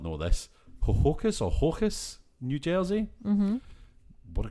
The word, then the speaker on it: Ho-Ho-Kus: I did click on the Wikipedia for it to try and figure out how it's pronounced, but I think it's literally Hohokus, like Hoboken. Okay.